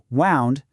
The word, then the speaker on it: wound: This time, it rhymes with sound. And boom. Here's the big twist. Pronounced wound, this word has absolutely nothing to do with getting hurt.